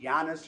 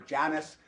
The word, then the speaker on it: Janus: There's a mediator god, and the god is, either you pronounce it Janus or Janus, the Roman god that speaks out of both sides of his face.